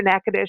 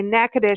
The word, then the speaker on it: Natchitoches: to spell it because the way it spelled out and the way you say it are two different things it's na TCH i toc h GS so it's like nacho cheese calm Kelly how are